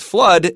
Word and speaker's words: flood: Now, a very simple word that rhymes with flood that nobody ever says wrong is mud.